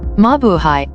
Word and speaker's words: Mabuhay: way of welcoming foreigners in the country mabuhay pronounced as mabuhay a tagalog word which means to live or